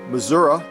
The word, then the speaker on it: Missouri: that is out in missouri missouri as many missourians say it uh if she's really